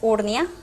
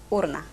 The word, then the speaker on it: urna: El otro ejemplo es urnia, la palabra correcta es urna.